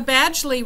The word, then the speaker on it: Badgley: pronounce your name correctly well you got the Badgley right my first name is pronounced Badgley the author of The